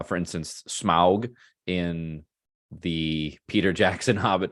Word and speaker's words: Smaug: Serpentine more you know worm like for instance Smaug in the Peter Jackson Hobbit trilogy don't shake